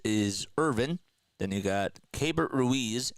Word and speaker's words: Keibert Ruiz: Then you got Keibert Ruiz, and that is how you say it.